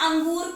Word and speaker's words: अंगूर: जैसे अगर अंगूर पे हम अनुस्वार हटा दें तो क्या पढ़ेंगे? अगूर। क्या पढ़ेंगे? अगूर। और जब हमने अनुस्वार लगा दिया, बिंदी लगा दी, तो इसका उच्चारण क्या हो गया? अंगूर।